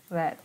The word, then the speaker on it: read: Red. Dia bacanya itu read, red, red.